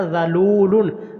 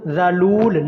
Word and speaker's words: ذلول: بقرۃ لا ذلول، یہ حرف تھوڑا سا مشکل ہے اور ہماری پنجابی پٹھواری لہجے کے خلاف یہ لفظ ہے، تو اس لیے اس لفظ کے اوپر ذرا اچھی طرح مشق کیجیے گا. بقرۃ لا، لام کو لمبا کرنا ہے.